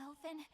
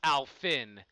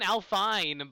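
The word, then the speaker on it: Alfyn: Oh, Elfin, thank you ever so much. Oh, it's pronounced Alfin. I don't know, it looks like an Alfine, but it sounds more fantasy, but Alfin, yeah, that works too.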